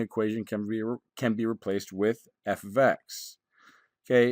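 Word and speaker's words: f(x): can be replaced with f of x. Okay, it's simply a notation to designate a function. It's pronounced f of x.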